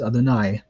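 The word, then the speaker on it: יהוה: could say Shema Yisrael, Yahweh Eloheinu, Yahweh Echad. However, virtually every Hebrew class will teach you to pronounce the divine name as Adonai.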